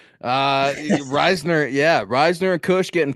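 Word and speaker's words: Risner: don't yeah adult he must be you know pronouncing it like you do Dalton Reasoner uh Reisner yeah Reisner and Kush getting pushed back and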